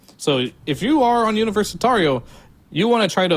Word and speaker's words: Universitario: Hence the reason why I've been saying Universitario is because if this was a Portuguese pronounced team, that would be the correct way to pronounce it in Portuguese.